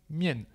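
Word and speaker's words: 面: ce caractère dedans donc le caractère qui se prononce mien mien donc si je repasse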